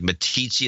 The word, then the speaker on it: Meeteetse: town named M eet EES II would like Meeteetse like Meeteetse fly how do you pronounce it me TC and like teach me